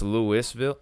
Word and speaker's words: Louisville: steal people's content it's Lewisville so it is Louisville it's just weird but you do pronunciate the S though so I guess that